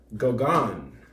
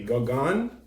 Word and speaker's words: Gauguin: And it's pronounced Gauguin. Can you say Gauguin? Gauguin.